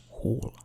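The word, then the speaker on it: whorl: And haul, I guess that's pronounced haul, W-H-O-R-L.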